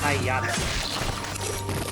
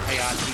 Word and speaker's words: Pagliacci: from the son of an opera buff, it's pronounced Hayata. I don't speak Italian, so thank you for correcting me. No worries. I don't speak Italian either. I just know that it's pronounced Hayati because my father, he told me a lot